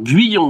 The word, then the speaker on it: Guyon: dire qui est Adrien Gouillon? Alors Guyon, déjà, prononce-le bien. Gouillon. Guyon, Guyon, Gouillon. Ouais, Guyon, voilà.